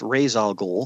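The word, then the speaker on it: Ra's al Ghul: I believe this is how he wanted to pronounce razal gou yes yeah and Talia so I mean the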